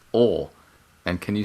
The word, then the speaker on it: Oail: It makes no sense how it's written. I'm gonna go OLE. It's OAIL. And it's pronounced Ole.